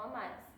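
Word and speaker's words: Homais: Outro personagem interessante é o Amaris, que é um boticário amigo do casal. O nome dele tem uma curiosidade interessante, que o nome dele a pronúncia se parece com homem em francês, que é Omar.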